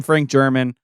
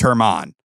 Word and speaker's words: Franklin: out that year and it changed the pronunciation for his name. So then we started calling him Frank German. Now he's like, I don't even want to go by Frank. I go by Franklin. and it's Herman.